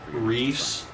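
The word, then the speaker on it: Rhys: I don't know how to pronounce Rise or Riss. Remember that. Now, like I call him report to Halen or Reese. Reese.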